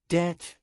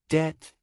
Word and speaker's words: debt: archive with ch sound correct archive Deb wrong debt with beat sound correct debt silent B cou explanation a French origin word